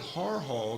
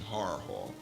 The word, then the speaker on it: Harford Hall: He calls it Har Hall because apparently the locals used to pronounce it like that. Rather than Haverford, they would just slur the pronunciation, Har Hall.